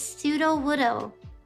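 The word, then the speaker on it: Sudowoodo: Oh, it's pseudo woodoo.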